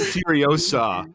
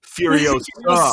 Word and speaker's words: Furiosa: Sorry, I I believe it's pronounced Furiosa. Not Furiosa, Furiosa.